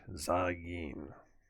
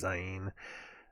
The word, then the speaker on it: Zain: i got that right za gene that's how it's how it's pronounced in king james it's z-a-i-n looks like zayn but it's zyein this uh hebrew for